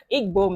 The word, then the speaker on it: Igbo: of the egg moment Igbo man let me pronounce it right yes over here like